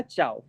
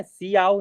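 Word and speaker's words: Ciao: और ये आ जाएगा चाऊ चाओ ठीक है ना सियाओऊ नहीं चाऊ हो जाएगा ठीक है ना इसका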